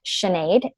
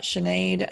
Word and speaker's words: Sinéad: dot sinead I just innate I guess it's name it's pronounced sinead but it's spelt innate it's an Irish name it's a Gaelic name my maiden last name